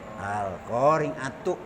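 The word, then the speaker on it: القارعة: Coba baca Al-Qari'ah tapi disambung di wasal. Al-Qari'atu.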